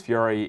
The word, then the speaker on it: Fury: 3d world plus bowser's fury yes some people think it's pronounced bowser's furry but i think those